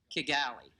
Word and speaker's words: Kigali: the Kigali, Kigali, is that the way you pronounce it? Kigali.